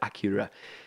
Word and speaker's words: Akira: finally finished watching akira akira i don't know if i'm pronouncing it right it sounds like in the movie they pronounce it acura i watched the english